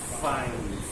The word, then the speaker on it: fine: it a try to speak the word fine the way I speak fine. Try to roll your lower lip, slightly touching to the upper teeth.